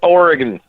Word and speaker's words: Oregon: You can't even say it right. It's Oregon. Oregon. I'm in the mood to say Oregon. I don't know why. Is it Oregon or Oregon? Oregon. It's gun.